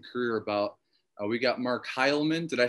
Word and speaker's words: Heylmun: We got Mark Heilman.